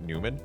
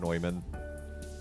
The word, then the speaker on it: Neumann: John Neumann in town, but everyone pronounced it Newman, which is incredibly incorrect. But we would regularly get calls, and they would get calls for us, and it's like, no, please learn the proper German pronunciation of Neumann. It's not that hard.